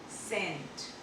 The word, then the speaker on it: cent: Okay, whenever e or I is followed by c in any word, you need to pronounce it as a s. Example, CENT, scent, CENT, scent।